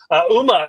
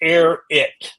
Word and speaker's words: Airi: very happy about that Uma am I saying that properly yeah yeah I'm not Uma okay okay my name is pronounced Airi so there you go